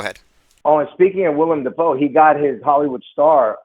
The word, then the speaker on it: Willem Dafoe: Now, William Dafoe, didn't he play Christ? Last Temptation of Christ? Yes. Mm-hmm. Sorry, Willem Dafoe, for those who are I will cease to mispronounce that one.